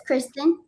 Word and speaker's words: Kristen: Is it Kristen or Kirsten? It doesn't matter, but it's Kristen.